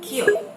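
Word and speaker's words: 기역: So it is very similar with the G sound or the K sound in romanization of English. But the confusing part is actually in the middle. It's not very G like Google, and it's not really K like craft.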